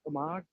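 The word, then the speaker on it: Omagh: bombing of 1998 and it's om a g omog okay so the huh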